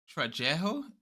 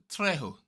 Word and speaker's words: Trejo: Trejo. Trejo.